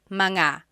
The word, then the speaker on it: mga: And then technically when you when you want to make something plural, you have to add the word manga.